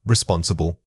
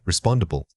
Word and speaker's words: responsible: Many learners add an extra syllable here, making the word sound much longer than it is. Try to pull the syllables together, remembering that only two main beats are needed for this academic term.